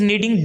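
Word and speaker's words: knead: नीड डफ नेट पड़े हम यहां पर के को साइलेंट कर देंगे तो यह चीज नीड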